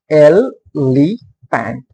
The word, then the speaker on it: elephant: Elephant. First stress is on L. Elephant.